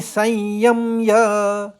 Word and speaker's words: संयम्य: तानी सर्वाणि और संयम य तो य के ऊपर आघात है। म का दो बार उच्चारण आएगा गूंजता हुआ।